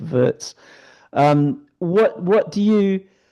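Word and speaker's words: Wirtz: I thought it was pronounced Vitz in German but is actually pronounced Vertz.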